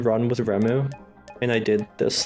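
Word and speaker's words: Reimu: It's Remu.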